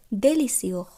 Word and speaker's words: délicieux: délicieux সুস্বাদু। আমরা কোনো খাবার খেতে খেতে অনেক সময় বলে থাকি ডেলিসিয়াস ইংরাজিতে, সেটিরই এটি ফ্রেঞ্চ উচ্চারণ হলো ডেলিসিও অর্থাৎ সুস্বাদু।